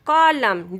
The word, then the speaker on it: column: Rule of silent letter N is we don't pronounce N if it comes after M and words. If a words end in M and then N will be silent. Autumn, column, dam, him.